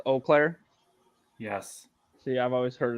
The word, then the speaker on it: Eau Claire: you you watched it you couldn't pronounce that Eau was oh no it's Eau Claire yes see I've always